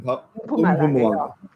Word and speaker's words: Mpumalanga: So I hit that M in the beginning. Mpumalanga.